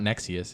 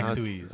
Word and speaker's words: Nexuiz: It's not Nexius. It's if you look the way it's spelled, it's No, Nexuiz.